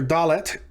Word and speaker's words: dalet: bet is the letter dalet dalet the uh the character dalet sounds like the english letter d in the word day or dog or doc duck so on and so